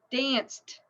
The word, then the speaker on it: danced: unvoiced right it's unvoiced so with the Ed pronunciation it's actually a since it's unvoiced it's a t sound danced danced danced we danced